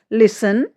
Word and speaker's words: listen: Rules हमारा क्या कहता है, STEN या STLE से अंत होने वाले कई शब्दों में टी जो है वो साइलेंट रहता है। स्पेलिंग से देखिए, लिसन, फाशन, काशल, ऑफन, ये